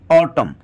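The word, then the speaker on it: autumn: की इनके पहले अगर एम है तो एम साइलेंट रहता है जैसे एटम देखिए इसमें एन के पहले एम है इसलिए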